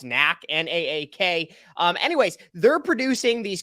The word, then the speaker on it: NAAK: Okay, so the company that's received the most amount of subsidy since 2018, I believe they're pronounced NAAK, N-A-A-K.